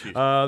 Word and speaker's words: Houston: As always, enjoying the show from Houston, or is that pronounced Houston now? No, it's Houston. The show brings so many good memories for when I was living in Atlanta.